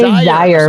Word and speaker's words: Zaire: It is Zaire. See, I was wrong. Yes. No, that's okay. It's like desire syllable without a D.